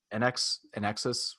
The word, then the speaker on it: INXS: Inxs, how you pronounce it?